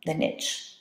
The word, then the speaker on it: niche: So all the sort of things that make that organism's role in the ecosystem really unique, that's the niche, or niche if you want to use the French pronunciation.